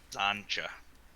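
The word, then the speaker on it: Xantcha: x yeah x-a-n-t c-h-a it's like matcha but zancha it's a dumb [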